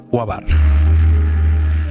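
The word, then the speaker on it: Quaoar: Muchos, al pronunciar este nombre, ponen el acento en la última sílaba, lo cual no es correcto. Además, de esta forma suena parecido al término cuásar, aunque el objeto transneptuniano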